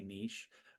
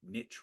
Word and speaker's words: niche: I might occasionally say Niche um but the reality is Niche rhymes with Rich and there is a